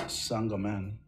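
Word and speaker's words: St-Germain: so impressed i just recently learned that it's pronounced sangoman that's what i've been told it's pronounced sandomen who the fuck pronounces saint germain sanderman if i learn one more thing in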